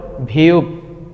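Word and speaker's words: 비읍: তারপর আমরা যেটা দেখতে পাচ্ছি এটাকে কোরিয়ানরা বলে ভিউব ভিউ ভিউব এটার মূল উচ্চারণ হবে ভপর আমরা যেটা দেখতে পাচ্ছি সেটা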